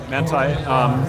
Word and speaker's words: Manthey: Am I pronouncing that correctly? Yes, Manthey.